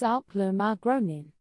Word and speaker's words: Älplermagronen: This dish is called Älplermagronen, pronounced roughly as Älplermagronen.